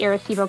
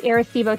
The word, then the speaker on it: Arecibo: talking about google the aristivo telescope that is a-r-e-c-i-b-o i always want to spell it with an a because that's the way i say it but it's not it's air a-r-e-c-i-b-o aristebo telescope they've now released